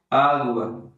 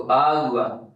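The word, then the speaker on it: agua: आगवा। Pronunciation भी एकदम spin में इसमें होती है। जैसे लिखा गया है वैसे ही पढ़ते हैं। तो आगवा तो आज से पानी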